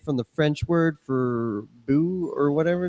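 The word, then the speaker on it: beau: um Oh Bo yeah the actual French word pronounced bo my bumper yeah I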